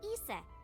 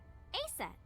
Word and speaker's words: Isis: Horace's mom is named Isis, but in ancient Egyptian, it's pronounced closer to Iset or Aset.